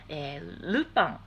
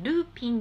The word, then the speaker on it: ルパン: ポイントなのは、ルパン、あのルパン三世の発音はルパン the third、ね、ルーピンではなくてルパン